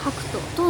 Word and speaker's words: Hakuto: Nó bắt nguồn từ từ tiếng Nhật "thỏ trắng" và được phát âm là "Hakuto".